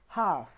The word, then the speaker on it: half: the first bullet point the letter L is silent in certain words like talk half there is no L